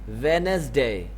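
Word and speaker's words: Wednesday: क्या बोलते हैं ए वेडनेसडे यह जो डेढ बीच में बच्चों यह साइलेंट होता है कि यह जो बीच में दी है डब्लू इ बी या डिसाइड होता है लिखने में आपने जरूर लिखना है रीडिंग में आपने इसको स्किप करना है वेडनेसडे कि इसके बाद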